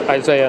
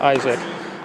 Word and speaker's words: Isaiah: It's Isaiah, not Isaac.